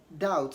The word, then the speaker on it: doubt: rather say thumb thumb also B is not pronounced when it comes before t whenever B counts before T it is usually not pronounced in doubt doubt so don't say doubts